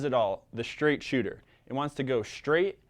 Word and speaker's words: Chuter: it all the straight shooter it wants to go straight and fast and it's spelled shoot like c-h-u-t kind of like down a chute or a cool works